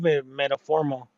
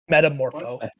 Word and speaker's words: Metamorpho: What did we think of metaphoral? No. Did I say his name right? Metamorpho.